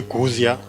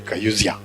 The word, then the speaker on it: Kauzia: Although it is written as Kauzia, others call me Kuzia, I am used to it being pronounced in all sorts of manner. But this time I'm really in Mbarara, I have to say, I'm called Kayuzia.